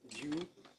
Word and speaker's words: Vue: So you pronounce it Vue, view.